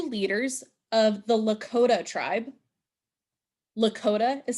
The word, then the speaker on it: Lakota: Big Horn two leaders of the Lota tribe Lakota is spelled l a k o t so two